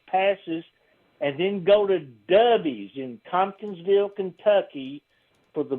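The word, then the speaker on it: Dovie's: I'll get you some backstage passes and then go to Dubbies in Tomkinsville, Kentucky for the best hamburger you'll ever eat. Dubbies.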